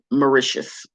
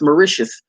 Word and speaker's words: Mauritius: more research and i realized that it's pronounced mauritius mauritius is this little bitty island off in the indian ocean next to madagascar where the rich and famous go um and do business and things of that nature meridius merit memority as i'm calling it miracias again but it's mauritius mauritius is a tax